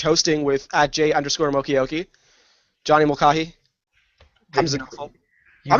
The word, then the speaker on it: Mulcahy: with at J_Mokioki, Johnny Mulcahy, Hamza Nofel. You mispronounced it again. I did. Every time. How do you say it? Every time you mispronounce it. How do you say it? Mulcahy.